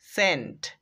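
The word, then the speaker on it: scent: ওয়ার্ডটি রেখেছি সেটা হচ্ছে সেন্ট সেন্ট মানে সুগন্ধি এস টা বাদ দিয়ে দেন পড়ে থাকবে সেন্ট এটারও উচ্চারণ হবে সেন্ট তো এই সেন্ট এর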